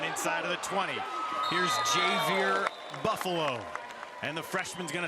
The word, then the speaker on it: Javier: Pronounces it Javier.